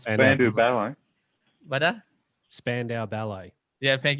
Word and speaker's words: Spandau Ballet: I always say the name wrong. Splendid Ballet, or it is Spandau Ballet.